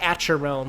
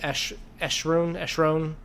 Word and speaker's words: Acheron: It looks like Acheron, but I believe it's pronounced Eschron.